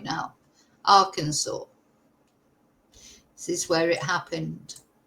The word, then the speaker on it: Arkansas: At least I'm pronouncing it right now. Arkansas.